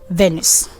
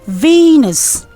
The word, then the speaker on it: Venus: Most people say Venus.